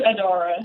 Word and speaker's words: Adara: Adara, am I pronouncing your name right, or is it Adara? It's Adara.